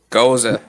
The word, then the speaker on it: Gose: This one is how do you say GOSE? Goza. Yeah.